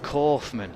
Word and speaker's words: Kaufman: Pronounced Kaufman, apparently. I thought it was either Kaufman or Kaufman. I was going Germanic, but no, Kaufman, okay.